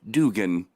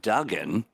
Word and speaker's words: Dugan: Dugan. Dugan. Oh, Not Duggan. It's Dugan.